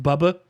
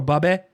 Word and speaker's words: bubbe: Bubby I had to look up because I know everybody's got a bubby, but technically it's pronounced bubba or bubbe according to the internet.